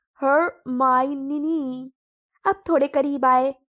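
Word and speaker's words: Hermione: वह वह बार-बार उसे हर्मियोनी कहती है यह पुकार रहा था। हरमाइन धीरे-धीरे और स्पष्ट रूप से उन्होंने कहा, "हर-मा-ई-नी," अब थोड़ा और।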